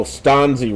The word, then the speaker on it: Stanzi: Oh, Stanzi rhymes with Fonzie.